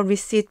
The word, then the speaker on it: receipt: 피는 묵음입니다. 소리가 나지 않아요. 그래서 Can I get a receipt, please?